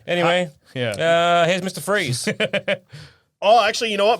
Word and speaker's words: Fries: he Victor freeze Mr Freeze probably I think his name is Mr okay so it's Dr Victor Fri that's how it's spell but fries is pres pronounced freeze there you go okay